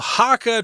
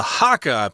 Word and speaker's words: Hakka: It's A here, the beautiful Hakka tradition of oil paper umbrellas.